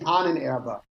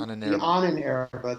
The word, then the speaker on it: Ahnenerbe: He has a segment of the SS, and you can correct me on the pronunciation, the Ahnenerbe? Is that how you say it? The Ahnenerbe. The Ahnenerbe, the Institute for...